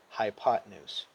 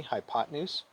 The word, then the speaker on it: hypotenuse: s e together though we don't say hypotenuse we pronounce it all together smoothly hypotenuse right everybody repeat after me hypotenuse okay so hypotenuse has